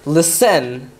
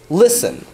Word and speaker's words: listen: word like listen right you put more stress on the li than the sen it's not lisen it's listen which is why when